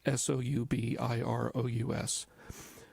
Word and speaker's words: Soubirous: A very simple young lady, Bernadette Soubirous, and there's different ways people pronounce that, but it's Soubirous.